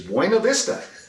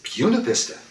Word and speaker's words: Buena Vista: I can speak Spanish, and I know that Bunavista is Buena Vista. And he said, "Phil, it is everywhere else but in Virginia. Here it's Buena Vista."